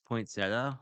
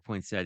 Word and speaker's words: poinsettia: thought that using this sketched pointa or pointa depending on how you pronounce it as sort of the